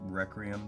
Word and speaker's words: Requiem: All I know about this film is one, I don't know how to properly pronounce Requiem, that first word. In theory it should be Requiem because it rhymes with dream.